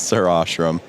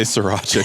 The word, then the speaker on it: sirashrum: My handle is sirashrum. Most people say sriracha because they can't figure it out, even though there's like no C's or A.